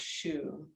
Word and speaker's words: xu: and the sound is shoe okay it's spelled xu but pronounced shu so connect we have